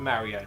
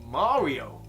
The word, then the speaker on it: Mario: And yes, I did say Super Mario and not Super Mario. Good. Yes, Super Mario, the proper Italian way to pronounce it. Yeah. Not the butchered Mario way.